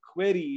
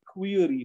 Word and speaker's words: query: So that plus a common word like query is wrong. It's actually query, not query.